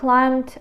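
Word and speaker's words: climbed: the instant мить he climed Up він виліз він викрапкався The High fence на високий пліт він викорапкався на високий пліт climed бі взагалі тут не чути і не читається Ось так Ось він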